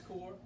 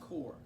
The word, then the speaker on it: Corps: All right, President Kennedy creates something called the Peace Corps. By the way, y'all, a lot of students mispronounce that. When you see C-O-R-P, that's pronounced Corps. It's like Marine Corps or Peace Corps. It's Corps, it's not Corp.